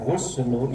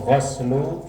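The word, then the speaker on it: غسل: Kalau dibaca guslu itu artinya mandi. Tapi kalau goslu mencuci. Makanya itu bacanya fagaslul kaffain.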